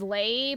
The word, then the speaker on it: lei: The plural form is lei, but not spelled with an A.